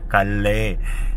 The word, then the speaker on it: Calais: Perancis halilintar kali Nah nulisnya Calais Tea gasnya bacanya Kale gitulah karena bahasa brainly bahasa